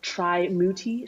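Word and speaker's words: Trimurti: is right in bangkok the tri-mootie shrine also the god of love i think i might be pronouncing it wrong but it's spelled t-r-i-m-u-t-i shrine and this shrine has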